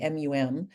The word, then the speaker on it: mum: American audience right and so we say Mom the British way muum but we spell it the American way Mom right but I said British mum and in the US